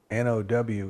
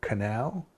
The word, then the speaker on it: know: N-O-W is now. K-N-O-W. Canal? No. No, it's no. You know? But N-O is no, and K-N-O-W is no, you know.